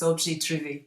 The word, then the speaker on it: objet trouvé: Yeah, the French terminology used by artists for a found object is objet trouvé, but Okay, rather than spell it French, I just spell it as if it was Scottish.